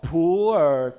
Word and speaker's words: pu'er: In typical Chinese pronunciation, Mandarin pronunciation, it's called pu'er cha, pu'er tea. But with your typical intonation, it may become a poor tea.